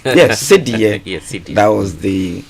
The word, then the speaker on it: cedi: So in 1965, we had the cedie, which was the symbol. I like the way you're pronouncing it. That's more authentic. Yes, cedie.